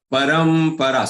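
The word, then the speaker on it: परम्परा: But thereafter ra and pra, there are two aghats. So these are prolonged letters, long letters. Pronounce them complete and then get the aghat. That is something which you should pay attention.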